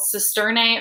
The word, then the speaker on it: cisternae: So the Golgi apparatus consists of flattened membranous sacs called cisternae or cisterna, depending on how you'd like to pronounce that.